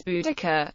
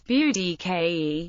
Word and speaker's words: Boudica: speaking of the name in common Briton is budaka pronounced B daar the closest English equivalent to the vowel in the first syllable is the a in bow and arrow the Modern English pronunciation is Bud ke and it has been suggested that the most